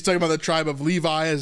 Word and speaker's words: Levi: what part is yours pitched I'm pitched in Levy Levy yeah me too wait you ought pitched in Levy yes leev so he's talking about the tribe of Levi is how we would pronounce it today Levi being the Priestly tribe